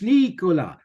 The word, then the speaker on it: Nicolas: two years Trish niika I'm going to think of Bola but with an N Trish Nik Trish Nikola welcome to taking the